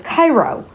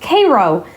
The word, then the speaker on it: Cairo: There's a a little town in Missouri that Ryan Hall thought was Cairo, but it's actually pronounced Cairo, and Christy was razing him about it.